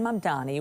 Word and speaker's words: Mamdani: Babbel and the captioning group say Zohran Mamdani was most commonly mispronounced, with people swapping the M and the N in his last name.